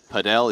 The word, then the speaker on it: padel: Played a little padel. Is it padel or paddle? What's the official pronunciation? Man, you know, I've heard Heard both. I've heard both.